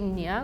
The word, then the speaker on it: nee: So when we say no in Afrikaans, it would be nee, which is N-E-E, nee. Yeah, that's how we spell it too, but you say it very differently.